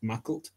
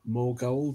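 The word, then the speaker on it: Maughold: Well, can I also just point out that Mackalt is pronounced Mackalt and not Morgold or anything else like that?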